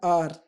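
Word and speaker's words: hour: Elephant, N orange, N आर। अब देखिए यहाँ पर एच है, ये कॉन्सोनेंट वर्ड है, लेकिन जब हम इसको प्रोनाउंस करते हैं तो इसको बोलते हैं आर। एच यहाँ पर हमारा साइलेंट हो जाता है, एन आर।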